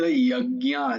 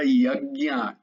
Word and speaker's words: यज्ञ: না বেদ যজ্ঞা, জয়ের উচ্চারণ ইয়া, ইয়া হবে, জ নয়। সবসময় মনে রাখবে জয়ের উচ্চারণ, কারণ এই জ চারিদিকে আছে, কারণ ইয়া বলার জন্যই। ইয়াটা যদি জ করো তাহলে যে লাভ পাওয়া দরকার সেটা পাবে না, এই জন্যই বলছি।